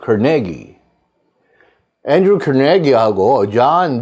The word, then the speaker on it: Carnegie: Andrew Carnegie라고 발음합니다. 우리 카네기라고 그러죠. 두 번째 음절에 스트레스가 있어요. Carnegie.